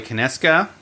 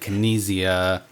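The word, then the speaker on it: Konieczka: So 3,000 Scoundrels, I mentioned earlier in the show, is designed by Corey Kineska. That's how you say it. I think I said Kinesia.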